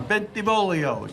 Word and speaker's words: Bentivolio: pronounce my name correctly you gotta sing it when you say it you gotta sing bentivolio you try thank you